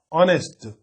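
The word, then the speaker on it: honest: जैसे यहां पे ये देखिए ऑनेस्ट मैन, तो ऑनेस्ट मैन जो होता है एच, एच से शुरू हो रहा है और इसका जो लेटर है ये कॉन्सोनेंट है, लेकिन इसका साउंड जो है वोवेल है, ऑनेस्ट, अ से उच्चारण हो रहा है, तो इसलिए इसके पहले इन लिखेंगे।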